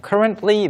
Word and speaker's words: currently: Yeah, we usually say it like this. Currently. Currently. 네, T 발음 저도 할 때도 있고 안 할 때도 있는 것 같아요. Yeah. 네. Some people, they say it, but most people will kind of take out the T.